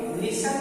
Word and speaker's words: listen: इसी तरह ALIGN align में जी साइलेंट है और फिर लिसन वर्ड में LISTEN में टी साइलेंट है, टी अनुच्चारित लेटर है।